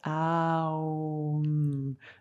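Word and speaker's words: Aum: Donc, comme il s'écrit des fois de différentes versions, on a juste le chant Om, O-M, et on a le chant Om, A-U-M, qu'on prononce A-O-M.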